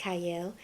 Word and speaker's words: Qiayel: TV I'm your host cyle it starts with a q but it's pronounced cyle and today I have